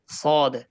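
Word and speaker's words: صاد: এইতো এইতো নকশাচ চিত্র এই হরফটার নাম হচ্ছে সদ তো সদ ও সদের মতই বলতে হবে তবে একটু মোটা আওয়াজ দিয়ে বলতে হবে কি আওয়াজ দিয়ে বলতে হবে দিয়ে উচ্চারণটা হবে সদ উচ্চারণটা কি হবে সদ সদ সদ বলে নরম হবে মোটা করে সদ সদ সদ এক ভাই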